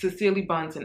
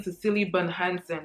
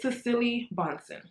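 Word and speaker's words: Cecilie Bahnsen: you guys hear it it's cecily bonsen i was saying sicily ben hansen for the longest but it's cecily bonson so this house makes the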